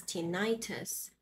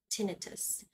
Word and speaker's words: tinnitus: we have tinnitus tinnitus so this is not pronounced as tinnitus this is pronounced tinnitus so tinnitus is a healthcare vocabulary in layman's